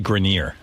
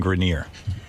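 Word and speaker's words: Adrian Grenier: It's actually Grineer. Adrien Grineer.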